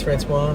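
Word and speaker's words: François: to Fran just because I like people to know that it's Francois. And then it's just, I don't know, people have a hard time reading it, saying it. It's that soft C, spelling it, pronouncing it.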